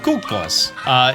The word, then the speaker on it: Cuccos: By the way, that is actually the proper pronunciation of Cuccos. It's based off of Italian.